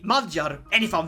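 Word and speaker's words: Magyar: you pronounce this well my brain wants to say it mogir but I'm pretty sure dungarians say madjar so I'm gonna say majjar and if I'm wrong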